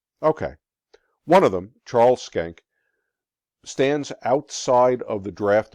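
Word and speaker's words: Schenck: world war one comes the skank case that's how it's pronounced very important to know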